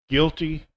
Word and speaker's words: guilty: So these are words with the silent U: biscuit, build, circuit, disguise, guilty, league, rogue, vague, guess, guest, guide, guitar, antique. So some of these words